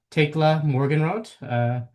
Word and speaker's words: Thekla Morgenroth: Today's installment of brief conversations about intergroup relations, we have Tekla Morgan Rode, assistant professor at Purdue University.